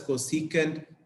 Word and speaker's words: cosecant: cosecant Theta cosec we we write it like c o s e c and it is pronounced as cosecant Theta similarly if you have